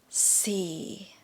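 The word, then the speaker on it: สี่: to number four yeah number four c still low tone here c if you don't know what low tone is low tone is you go low and go even lower yeah c c so sounds a little bit depressing c l tone c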